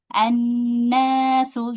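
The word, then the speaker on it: الناس: Kemudian di sini sama dibacanya fathah juga. annasu ya walaupun dia di ee alif lam syamsiyah yang enggak dibaca hanya huruf lamnya aja tapi hamzah wasalna menjadi fathah ya tidak kasr tidak dmah dia tetap fathah walaupun dia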